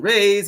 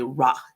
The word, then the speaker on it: Ra: course we have sun rays you know um and people mispronounce the name they say Rah it is not Rah it is Ray Ray is a very